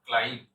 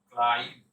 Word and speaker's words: climb: এর উচ্চারণ হবে ক্লাইম। কি উচ্চারণ হবে? ক্লাইম, ক্লাইম। বি উচ্চারণ করবেন না, বিটা সাইলেন্ট।